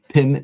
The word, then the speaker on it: Pim: wrong again yeah but it's not Pam Johnson no um and it's not Prim no R I only